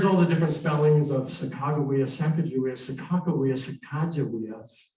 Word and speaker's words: Sacagawea: much of anything and so they said we want to get this right so they came up with a proper pronunciation that most people agreed on and that was chicago not sacagawea but you can call her whatever you like the captains